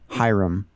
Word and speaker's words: Hiram: And you went to, I don't know how to pronounce it, Hiram? Hiram.